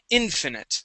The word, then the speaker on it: infinite: First up, we have the word infinite with the stress at the beginning.